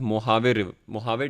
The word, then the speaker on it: Mojave: ठीक है, सो इट is written as मोजावे बट इट is been pronounce as मोहावे desert.